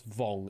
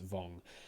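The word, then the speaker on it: Vuong: Uh, but vong that I pronounced there. No, it's pronounced as vong actually without the u in it. So, pronounced as vong.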